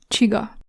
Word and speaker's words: csiga: Ch, which is formed as C plus S. C plus S. Ch. Ch. It would be like T and S in English, I think. Ch. Ch. Ch. Like in the Hungarian word csiga.